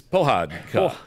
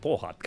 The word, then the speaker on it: Pohádka: Well, his piece is Pohádka. Pohádka.